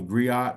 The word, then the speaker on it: griot: um there there is a term called the griot or the Grio however you want to pronounce it you know that's an African custom